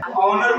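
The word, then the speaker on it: honour: देखिए इससे पहले एच आ गया ठीक है ऑनर पढ़ेंगे क्या पढ़ेंगे नर ठीक नर मतलब क्या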